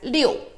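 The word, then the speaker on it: 六: lucky the number six in Chinese witnesses as Leo Leo so this is lucky because in the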